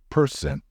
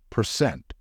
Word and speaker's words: percent: you pronounce it correctly a lot of non-native speakers tend to stress the first syllable in this word and say say person however the stressed syllable in this word is the second one so it should be pronounced as percent my fee is 15%